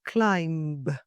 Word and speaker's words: climb: It's climb, not climb.